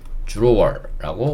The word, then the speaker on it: drawer: 지금 얘기하는 거는 요 dr도 drawer라고 읽어도 되지만, 원어민들이 발음할 때 d와 r이 이렇게 붙어 있으면 이 d를 ju라고 발음을 해요. 그래서 이것도 drawer라고 원어민들이 발음을 합니다.